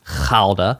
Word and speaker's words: Gouda: So it was a guda cheese which I know you're supposed to pronounce khala for gouda but hey whatever.